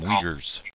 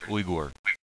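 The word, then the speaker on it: Uyghur: China ug no Noor the Chinese call them weers but Wingers Wagers but that's not that's not how they pronounce their name their name is Igor u y u g hu R okay now let me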